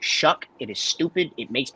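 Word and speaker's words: Shough: Shuck. I've come to find out it is pronounced Shuck.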